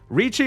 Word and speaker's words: riichi: Riichi Mahjong also has the riichi mechanic, where if you're one tile away from a winning hand, you can call riichi, where usually just pronounced reach in English.